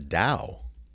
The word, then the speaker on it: Tao: the serious of The Da and how do you spell the Dow t a t o or Dao but usually T it's Tao but you pronounce it da so the philosophy what